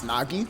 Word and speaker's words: Nogi: us the backstory so everyone calls me nogi but the actual pronunciation of the name is nagi and it comes from the abbreviation term of nagitsune which is japanese for black demon fox of course it